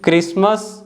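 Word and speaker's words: Christmas: असल fourth one है क्रिसमस और लास्ट वन है लिसन तो इन सभी वर्ड्स में आप देख सकते हो जो लेटर टी है एफ और एस के बाद आ रहा है और साइलेंट है बट इस रूल के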